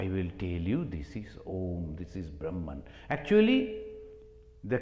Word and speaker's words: Om: And to pronounce for the Westerners who never heard, they don't know how to pronounce, they say almost like home, this Om.